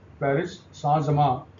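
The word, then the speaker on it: Paris Saint-Germain: ठीक है, और ये खेलते हैं पेरिस सां-जर्में, पीएसजी भी बोलते हैं, तो पेरिस सैन-जर्में, प्रोनाउंसिएशन फ्रेंच में ऐसे ही करते हैं ये लोग।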